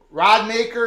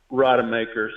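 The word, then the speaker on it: Rodemaker: major comeback for that young man but Florida rod maker is that his name is he the guy who's gonna Lead You Now Rod maker so just say rod and then instead of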